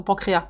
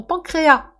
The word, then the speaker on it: pancréas: ton pancréas » Ton pancréas, je pense qu'on ne prononce pas le S. Il m'a regardé un peu l'air « Oui, pardon, j'ai pas bien compris. Je veux manger ton pancréas.